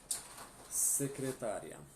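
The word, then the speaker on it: secretaria: Secretária tem a mesma escrita, só perde o acento, tá? Mas a pronúncia é como se tivesse, tá certo? Secretária, tá?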